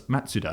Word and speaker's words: Mazda: I would like it if Mazda then turned around and said, actually, can you call us Matsuda? Yeah. As they say it.